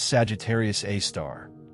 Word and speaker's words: Sagittarius A*: This is the story of Sagittarius A asterisk pronounced Sagittarius A star the super massive black hole at the heart of the Milky Way.